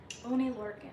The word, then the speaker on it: Oney Lorcan: The first match was Drew Gulak defending the Cruiserweight Championship against, how do you pronounce the name? Oney Lorcan.